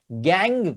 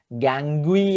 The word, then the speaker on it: gangue: अब इसका प्रोनाउंसिएशन जरा देखिएगा, गैंग, GANGUE। सो ये प्रोनाउंसिएशन देखिएगा, बहुत ही यूनिक सा प्रोनाउंसिएशन है। गैंगुई ऐसा कुछ मत बोलिएगा, ये गैंग, खाली गैंग इतना ही रीड करना होता है, UE साइलेंट होता है इसके अंदर, ठीक है।